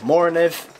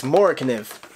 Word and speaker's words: MORAKNIV: I always thought it was like MORAKNIV, MORAKNIV. It's MORAKNIV. Now I know, and I will never mispronounce it again.